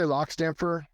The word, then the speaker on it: Lockstampfor: Yeah, I say Lockstampfor. Okay, that's what it looks like in print.